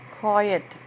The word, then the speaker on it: quiet: Quiet, Q-U-I-E-T, quiet, Q-U-I-E-T, quiet, Q-U-I-E-T, quiet. That means silently, without a noise. And the rhyming words which go along is diet, riot, and riot.